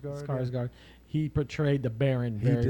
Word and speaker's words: Skarsgård: Skarsgård? Skarsgård.